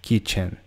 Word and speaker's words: kitchen: Então é como se fosse dividido em duas sílabas de som. Então é ki e chen, kitchen.